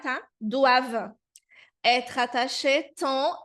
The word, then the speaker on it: doivent: Então, a terminação ENT nos verbos é uma terminação muda. Então, como aqui é o verbo dever, o verbo devoir, então não vou pronunciar, tá? Doivent être attaché tant, e